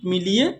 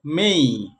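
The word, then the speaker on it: May: তারপর এই শব্দটাকে আমরা বলি মে, মে মাস। জানুয়ারি ফেব্রুয়ারি মার্চ এপ্রিল মে এইভাবে করে বলি। এটাকে মে বলি, এটা ভুল উচ্চারণ, এটাকে বলতে হবে বা পড়তে হবে মেই, এম এই, মেই। হ্যাঁ, এম এই ওয়াই অথবা এই ওয়াইকে আমরা একসাথে এই সাউন্ড করতে পারি, এম এই অথবা এম এই ওয়াই, মেই। এটাকে আমরা মে বলবো না।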